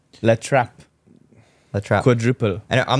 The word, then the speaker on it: La Trappe: Can you pronounce it for us? It's called La Trappe.